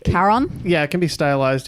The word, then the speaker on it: Charon: I think it's pronounced like a k sound at the start, right? Charon. Yeah, it can be stylized either with a C or a K, and it is Chiron. Charon.